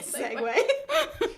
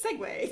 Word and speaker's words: segue: You're trying to get segue. It's almost What's the bedtime word if you couldn't tell. What's the word of the day? It's segue. Segue! It rhymes. Which is spelled stupidly, but whatever.